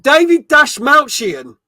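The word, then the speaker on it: David Dastmalchian: Oh, David Dash Mountian. David Dash Mountian. That is his correct name. That's how you pronounce his name, right?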